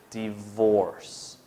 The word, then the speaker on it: divorce: so together divorce yeah and remember the v sound is quite difficult to pronounce but divorce okay all together divorce